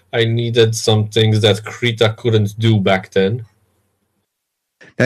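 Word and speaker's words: Krita: screech oh okay and I also heard the main developer de pronouncing it creature and yeah I made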